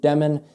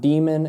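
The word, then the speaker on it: Demin: Unfortunately, his last name is pronounced Demen, not Demon.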